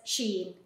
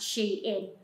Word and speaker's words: SHEIN: I love Sheen well people will know it as Sheen but is actually pronounced she in so I have a